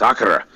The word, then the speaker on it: Akira: and i was like have you seen um akira and he was like no it's akira and then he just drilled into my head he refused to let me pronounce it any other way so i i have